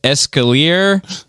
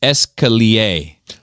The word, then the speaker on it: escalier: You said escalier. It's escalier. How many staircases have you bought there, Seabass? I'm just curious, because I can call it whatever the fuck I want. Escalier. Escalier sounds nicer, though, to be fair.